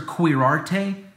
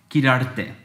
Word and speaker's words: Quirarte: Officer Quirarte? Nope. This is how you say my last name. Quirarte. Gotta roll that R.